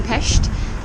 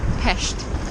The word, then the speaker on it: Pest: Crossing the chain bridge, going from Pest to Buda. And it's actually called Pest, not pest like the disease.